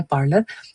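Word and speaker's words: parlour: और last word है इस सीरीज में हमारा इस लेक्चर के अंदर जो है पार्लर। वो जनरली लोग जो है वो फैंसी साउंड करने के लिए पार्लर को पॉलर कहते हैं। पॉलर जो है वो एक गलत प्रोनाउंसिएशन है और ये फैंसी साउंड भी नहीं करता।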